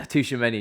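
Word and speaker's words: Tchouaméni: Yeah, Tushimeni. Yeah, I've learned how to say his name properly, not Tamagotchi. Again, he's not plan A.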